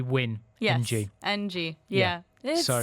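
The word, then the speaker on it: Nguyen: It has just gone 5 o'clock, and thank you so much to everybody calling me out for my pronunciations for the word Newen and what should be win.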